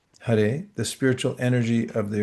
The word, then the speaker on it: Hare: And Hare, that's how it's pronounced. Hare, the spiritual energy of the original conscious source.